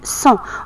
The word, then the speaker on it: sang: alors Salima a du sang on voit la lettre G à la fin du mousson mais on l'entend pas on dit c'est une lettre muette sur le doigt aussi